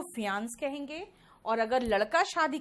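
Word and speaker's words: fiancé: जो है महिला, वो फियांसी है, ठीक है। यहां पे फियांसी और फियांस बोलते हैं, बाकी ई का कहीं भी प्रोनाउंसिएशन नहीं आता, ठीक है।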